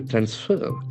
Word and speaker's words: transfer: Plea to transfer. T R A N S F E R. So, here we have two syllables accent falls on the second syllable.